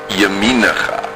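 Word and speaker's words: ימינך: This word is yaminacha. It means your right hand. It's also in ana b'koach. Ya, mi, the yud is silent. Na, cha.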